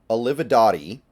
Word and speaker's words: Olivadotti: The Seahawks are hiring the Packers assistant, Kirk Olivadotti. That's, I believe, how you would pronounce it, per several sources.